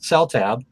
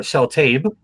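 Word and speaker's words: Seltaeb: that did the licensing called Celtab or Celtabe. There's 2 different pronunciations.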